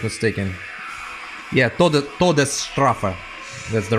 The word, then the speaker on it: Todesstrafe: Yeah, Todesstrafe. That's the right pronunciation.